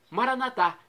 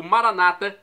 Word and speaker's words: Maranatá: E agora eu clamo do dialeto de Jesus, o aramaico, Maranatá, como dizemos nós católicos, ou Maranata, como dizem nossos irmãos separados, os evangélicos ou protestantes. Não importa a pronúncia, o significado é o mesmo.